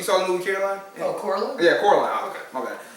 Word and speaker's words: Coraline: it basically I think it's the same people who did Caroline. You saw the movie Caroline? Oh, Coraline?